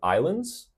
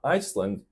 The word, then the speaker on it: island: We could say chain of islands. Also island, not Iceland.